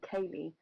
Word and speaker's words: Callie: So he does sound like Kaylee, but it's Callie.